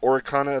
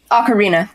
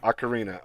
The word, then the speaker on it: ocarina: i'm gonna mispronounce this the or orikana of time ocarina ocarina okay you do pronounce it like arena all right i i